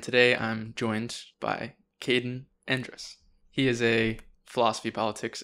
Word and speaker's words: Endres: say your last name andrus andrus yes i was always thinking it was like andres yeah everybody does that it's just it's almost entirely phonetic and dress like technically